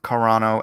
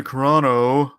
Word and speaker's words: Carano: deaf eden at least eden pronounces the last letter of carano as an o what was i saying